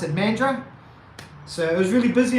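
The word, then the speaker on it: Mandurah: busy and men men the Australians call it mandra but it's kind of spelled like mandura but I know that the Australians pronounce it mandra so it was really busy in Mandarin yesterday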